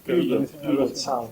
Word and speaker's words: Puget Sound: Puget Sound es como se pronuncia.